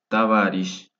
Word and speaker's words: товарищ: Товарищ, товарищ, товарищ, compañero. Vemos que no lleva acento en la O porque va fuerza de voz.